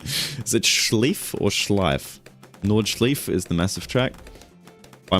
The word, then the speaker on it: Nordschleife: Schleif with an I in the middle, as in I am, and the ending E as in apple. Nordschleife.